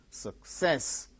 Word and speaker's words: success: third syllable gain stress success success two syllables are there second syllable gains stress teacher first syllable gains